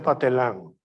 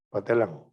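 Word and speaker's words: Pathelin: La farsa de Miser Patelín se escribe, se pronuncia Patelán, P-A-T-H-E-L-I-N, de Miser Patelín, Patelán.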